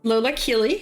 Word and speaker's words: Lola Keeley: So your hosts today is Lola Keeley, who is, am I saying it right?